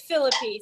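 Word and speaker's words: Phillippe: I always pronounced it Felipe, but literally everybody I hear in media says Philippi.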